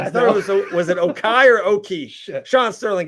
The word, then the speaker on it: Okie: was it Okai or Oki? Shit. Sean Sterling, give it back to me. Give it O-K-I-E. Okay, like someone Oki. pronounce Oki.